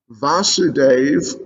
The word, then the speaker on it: Vasudeva: the son of vasudeva vasudeva with a long a so they blew their